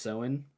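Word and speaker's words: Samhain: heck you want to say that but it's pronounced seen um and the kelu lived 2,000 years ago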